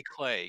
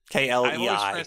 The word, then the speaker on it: Klei: When you say by clay, can you Don't Starve and Oxygen Not Included. Okay. Okay. Klei, clay. Yeah, rhymes with play.